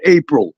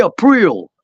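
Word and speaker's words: Aprile: It is not April. It is not the month of April. It is Richie April. I that is the correct pronunciation.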